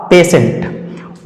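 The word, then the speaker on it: patient: तरह से आगे है पी ए टी आई ई एन टी टी के तुरंत बाद टी के तुरंत बाद आई ई आया है तो इसलिए टी का सही उच्चारण हो जाएगा तालब दवाला सा और इस शब्द का सही उच्चारण हो जाएगा पेसेंट उसी तरह से आगे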